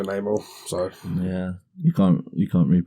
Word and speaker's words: Namor: rather be Namor or Namor, however his name is pronounced.